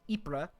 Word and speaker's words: Ypres: However, in 1915, the first Battle of Ypres, by the way, that is how you say this, Ypres, right over here.